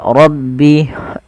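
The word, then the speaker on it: رب: Lafal rabbi. Tebalkan huruf bnya. Maaf rnya tebalkan baru ke ba. Rabbi.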